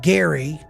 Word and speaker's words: Gerry: He actually was pronounced it Gary as if it was G- A R Y, but it's spelled G E R R Y.